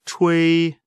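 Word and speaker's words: 吹: The pronunciation of chui ch is pronounced as the ch in the English word Chinese, and wei similar to a in wei.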